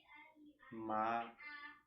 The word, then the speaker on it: Maranata: Repita a palavra interiormente, em 4 sílabas igualmente separadas, assim. Maranata. Maranata.